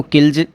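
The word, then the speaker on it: kills: और एक एग्जांपल देता हूँ मैं आपको, जैसे किल, ठीक है, इसको किल्ज किल्ज बोलेंगे। सुना है कईयों ने किल्स बोला है, किल्स, किल, किल्स, किल्स ऐसे नहीं बोलना है आपको, गलत बोल रहे हो आप।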